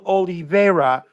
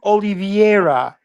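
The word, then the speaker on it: Oliveira: you are incorrect forbin it's not Nelson Oliva it's Nelson oliviera oliviera so when you try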